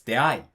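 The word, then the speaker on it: 出会い: Sometimes the dictionary is just straight up wrong. Like if you look up deai in the dictionary, it's going to say it like that. It's going to say that all the dictionaries say that deai is heiban, but in reality it's not. It's actually nakataka. It's deai.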